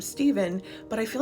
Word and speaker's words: Stephen: Finally, the masculine version of my name, Stephen, but I feel like some people would pronounce the PH version as Stefan, so this one's tricky.